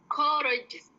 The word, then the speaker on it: courageous: Courageous. R-nya hilang. Courageous.